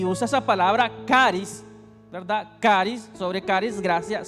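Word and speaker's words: χάρις: Pablo sino que es una palabra que en griego se pronuncia como caris y caris va mucho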